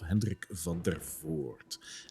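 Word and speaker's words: Henrik van der Voort: coffin makers shop of henrik van der forte which by the way is a dutch name so that's how you pronounce it correctly for all of you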